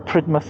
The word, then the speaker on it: Polridmouth: Right, so that was Polridmouth, oh sorry, Menabily and Polridmouth, or Pridmouth as we call it down here.